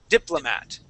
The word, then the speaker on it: diplomat: Now on this word instead of saying diplo diplomat we would usually pronounce that O as an uh sound saying dipl diplomat.